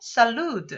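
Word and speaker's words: salud: 먼저 건배를 하게 하면서 일반적으로 쌀 누드 라고 발음을 하게 됩니다 영어로 취혈 생 해당이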